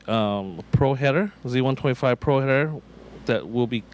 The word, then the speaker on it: Z125 Pro: Again, I asked you the correct way to pronounce this new Kawasaki. What is it? It's the Kawasaki Z125 Pro.